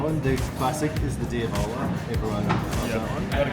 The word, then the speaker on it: Diavola: Did I say it correctly? Diavola. Yeah, you say it with the accent.